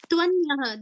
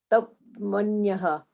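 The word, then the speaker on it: त्वन्यः: Tavanyah. No, no. Tvanyah. It's very simple. Tvanyah. Tavanyah. How would you pronounce Tvanyah? Tavanyah. It's not tav, it's twa.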